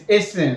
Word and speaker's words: hasten: And then there's hasten, like you are in a haste. Hasten.